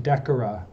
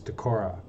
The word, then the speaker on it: Decorah: Eagles the Decorah Eagles I have been saying Decker for a very long time and I have the pronunciation wrong the pronunciation of the area is Decorah so the Decorah Eagles